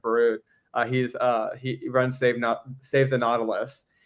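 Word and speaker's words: Barord: Gregory, I think his last name's pronounced Barud.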